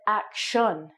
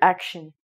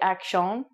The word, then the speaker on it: action: act on action action no once again english pronunciation is very strange and it's actually said action or action so i would say this word action some people might say akshon but that would be a french canadian accent